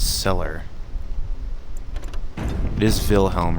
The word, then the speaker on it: Wilhelm: this one up here wilhelm's cellar it is wilhelm right you pronounce the w like a v wilhelm wilhelm what now